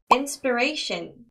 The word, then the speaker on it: inspiration: inspiration 어려운 단어예요 inspiration 자 해당 단어는 inspiration이라고 아이 발음 나면 안 되고요 inspiration 아까 우리 position 할 때 던지듯이 터지는 발음 있죠 비슷합니다 inspiration inspiration 하고이 발음 나지 않고요 inspiration 하고 어 발음이 나는 거 기억해 주세요 자 한 가지 꿀팁은요